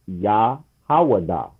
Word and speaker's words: Judah: But that's not how you pronounce Judah in Hebrew. It's Yahawada. Okay?